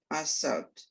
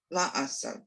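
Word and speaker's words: לעשות: Milachto, Asher, Bara, Elohim, Asot, Not asot. La Asot, I'm sorry.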